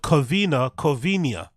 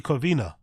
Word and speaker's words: Covina: But for some reason, he puts an accent on the N on here to make it sound Covinia when it's actually Covina.